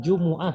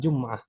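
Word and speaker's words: جمعة: akan salat aljumah Jumat cara bacanya Jumuah Ya aslinya bukan jumah tapi Jumuah kemudian Isam bilang masjidil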